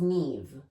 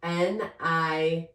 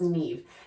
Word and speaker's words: Niamh: Her name was Neve, but it was spelled Niamh. Niamh, pronounced Neve. And the first day of class, I'm going through and I'm like, Niamha?